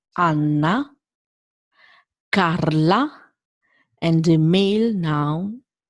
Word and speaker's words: Anna: and the female nouns Anna is not N, is Anna, Carla, and the male noun Andrea. This is very important. A, always A. When you see this letter, A, pasta, fragola, Anna, Carla, Andrea.